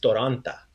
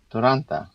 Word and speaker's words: Toronta: So we're making sure we have that A sound at the end. You write the city Toronto with the O at the end, but when you have it in this sentence, we're saying Ja sam iz Toronta.